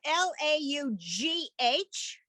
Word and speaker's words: laugh: the word um uh l-a-u-g-h that's laugh so in that case the gh is an f sound but if i gave